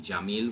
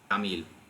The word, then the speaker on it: Jamil: was the fact that the j sound, like in Jamil, which is beautiful, is pronounced g, Jamil.